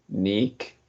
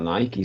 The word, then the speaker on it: Nick: First, the name is Nick. It's not Nike, it's Nick, and this word is sky, right?